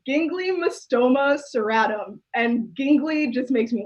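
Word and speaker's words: Ginglymostoma cirratum: i googled it to make sure i can pronounce it correctly it's gingly mystoma serratum and gingley just makes me laugh gingly seems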